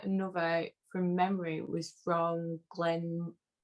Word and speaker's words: Glenmorangie: I think another, from memory, was from Glenmorangie. How am I pronouncing that? Glenmorangie. They like to. Glenmorangie. It's the orange.